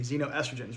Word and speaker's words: xenoestrogens: Again, Xeno, not Zeno, but it's pronounced like a Z, xenoestrogens, right?